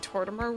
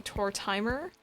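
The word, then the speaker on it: Tortimer: way back um the most of us are probably pronouncing torturmer wrong it's meant to be tour timer is an old timer yes i've heard that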